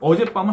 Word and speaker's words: 어젯밤: 어제와 밤은 합성어, 어젯밤은 합성어이기 때문에 붙였어야 됩니다. 명사 붙여 쓰고 그 다음에 여기에 애로 모음으로 끝나고 뒤에 밤이 빰, 어젯밤 된소리로 발음되지 않습니까?